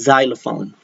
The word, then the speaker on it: xylophone: All right, Xerox and xylophone. Those are pronounced with the Z sound.